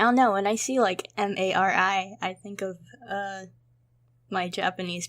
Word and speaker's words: Marry: I spell it with the 2 R's, but my personal preference to read it is Mari. I just think that it looks prettier.